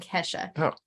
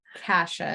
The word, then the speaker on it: Kasha: in a minute but Kesha yes not Kesha Kasha is what I'm going to pronounce it as to create a difference um it's one of